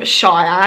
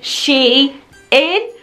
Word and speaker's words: SHEIN: to pronounce their name I think I was calling them Shia and I'm not quite sure so I emailed them to ask how do you pronounce their name and when I got a reply back I thought you know how stupid of me it was so obvious so you pronounce their name she is which is pretty obvious